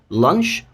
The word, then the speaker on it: lunch: يبقى lunch، هركز بقى على الامريكان pronunciation اكتر عشان ما نلخبطش نفسنا. lunch، والتانيه مد بقى launch، وانت التي برضو lunch launch.